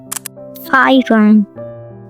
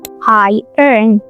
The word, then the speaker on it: iron: A lot of people say iron because of the spelling, but in real life the O disappears and it's just two beats. In American English, people usually say iron, iron, iron, iron, but